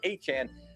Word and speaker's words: Etienne: But now you've got yourself Travis Etienne, and yes, that's how you pronounce his name, he made that clear, Travis Etienne, in the building for the Saints.